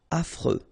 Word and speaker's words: affreux: accent circonflex malhonnête désorganisé affreux final x not pronounced Fre affreux ennuyeux.